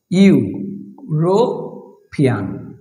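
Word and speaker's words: European: Vowel দিয়ে যদি শুরু হয়, এটা একটা ভাওয়েল ই, কিন্তু তার উচ্চারণটা কি দেখেন তো আমরা বাংলায় লিখি ইউ রো ফিয়ান। এই যে ইউ, যদি ভাওয়েল থাকে কিন্তু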